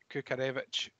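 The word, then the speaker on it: Kukharevych: and you said that kukarevic which is the correct way to say it by the way according to herbs you say that crookedevich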